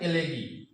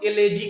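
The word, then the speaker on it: elegy: क्या पढ़ेंगे इसको? एलेगी। कितना इसको एलेजी कहते हैं, हम देखे हुए हैं तब बोल रहे हैं। एलेजी एलेजी लोग पढ़ते हैं, गलत प्रोनाउंसिएशन है, ठीक है। एलेगी बोला जाता है।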